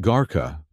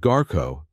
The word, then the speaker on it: garo: It is not gara that means smelly foot. You want garo, that means brave heart.